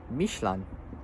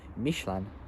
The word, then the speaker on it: Michelin: tire company, and it's pronounced as Michelin. So Michelin. It kind of sounds German, but it's actually a French word. So it's Michelin it's French for Michelin.